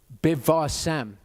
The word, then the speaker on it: bivasem: Okay, when you've got a dot in the middle, that letter is pronounced as a B. When you don't have a dot in the middle, it's pronounced as a V. That's why sometimes in the presentations you'll see a B with a line underneath it. That means there's no dot in the Hebrew and so it's a V, and I'll always pronounce them as V's.